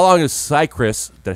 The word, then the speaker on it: Cicrus: So how long is Cicrus?